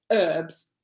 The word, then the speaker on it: herbs: them away from others you guys do the same thing herbs there's a h there okay arm wrestle party